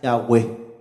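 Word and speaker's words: Yahweh: con el nombre correcto la pronunciación correcta más cercana es la web con esos hijos y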